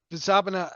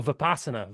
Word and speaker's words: Vipassana: oh Vipassana Vipassana. yeah Vipassana SANA. yeah Vipassana Asana. It's yeah like the yoga asanas probably, but hmm yeah, I will have finished that next time we chat.